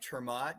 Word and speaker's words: ter Maat: i appreciate that uh mike termat you can pronounce it that way but most people throw